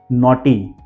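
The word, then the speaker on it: naughty: ग को साइलेंट रखना है कौन से वो spelling let see first नॉटी इसे N very नॉटी बाय नॉटी में ग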